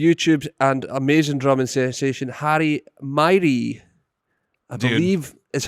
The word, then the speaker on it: Miree: This is Drummers Only Radio, and we're here with the doodliest of dudes, the YouTube and amazing drumming sensation, Myrie, I believe is how you say it.